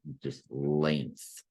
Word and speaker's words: length: lengths or singular length, don't try to pronounce the G in there. Okay, don't try to pronounce that G or you'll get everything wrong. Okay, that G is silent, just length or plural lengths with the S on the end.